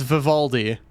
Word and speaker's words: Vivaldi: Yes, it's Vivaldi, like the composer.